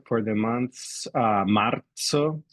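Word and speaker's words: marzo: pronunciation for the month's Maro so with that z sound pronounced like the Z in Pizza Mar um ma again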